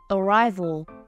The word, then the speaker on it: arrival: Arrival. Thứ hai.